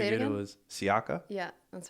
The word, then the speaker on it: Siaca: I don't know. Some weird stuff, but Well, whoever said is an idiot because it's actually pronounced like that because it comes from Italy. So it's Siaca.